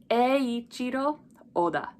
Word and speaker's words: Eiichiro Oda: This one's a little tricky just because we have the letter E, two I's in the front. So first we group E, and then the two I's make a long E sound. Eiichiro, Eiichiro, Oda. So O is by itself, then Da is together. So Eiichiro Oda.